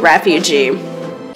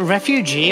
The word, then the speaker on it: refuge: resources to the Cenarian refugee. Is it refugee or refuge? Refuge. That's fine. I thought I was saying it wrong.